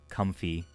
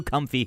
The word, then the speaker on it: Comfey: Comfy. It's a very comfy. It's just pronounced comfy? Like that? Like comfy?